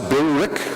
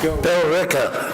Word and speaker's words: Billerica: do you pronounce it, Billerica? Billerica. Billerica. I was told that it does not pronounce the way I've seen it written on maps.